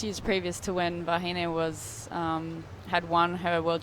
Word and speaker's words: Vahine: Yeah, Vahine.